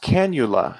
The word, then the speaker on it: cannula: is pink right not pink um and it's pronounced cannula purple yeah the smaller one is purple okay